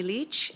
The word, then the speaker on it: Lich: the record please State your full name and spell it out Leach l-i-c-h do you swear that the evidence to